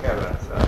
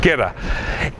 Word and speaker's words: Kerala: Yeah, it's a southern province in Kerala. Kerala.